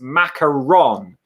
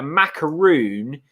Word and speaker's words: macaron: here um simon so simon educating us it's french from bordeaux so it's macaron um apparently a macaroon is a coke a coconut with a rice paper base um so macaroni is correct chris well